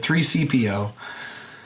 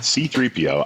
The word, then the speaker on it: C-3PO: 3CPO. Yeah. I was like, I'm trying to remember what the right one is. I'm never going to say it right again. C-3PO. I said 3CPO.